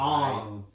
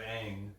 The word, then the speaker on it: Aang: And wasn't Ong, like some of the pronunciations of the names not even right? Ong instead of Aang.